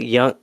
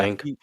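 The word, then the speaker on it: Leung: That is Ken Young. Ken Young as Detective Singh. Is it Ken Luang? Is that how you say it? Yeah, sorry, Detective. Luang, probably Yeah, Luang.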